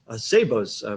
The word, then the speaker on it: Szabo: And then we finally reach Szabo's presentation. Is that correct pronunciation? Yeah.